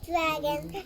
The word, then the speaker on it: drago: That's how you say it in Italiano.